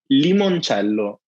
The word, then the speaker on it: limoncello: It's now you can also learn it's pronounced limoncello. Oh, yes. Okay. Lemon. Oh God. Don't let my Canadian tongue read this. I know it's not easy, but it's not lemon, it's limon, like to E.